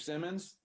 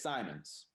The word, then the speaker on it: Simons: It's just something where somebody will say, Mr. Simmons, it's Simons. It's Simons. Or they'll say my name